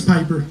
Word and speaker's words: Piper: That's Piper. Piper. Fuck yeah. Just like Rowdy Roddy.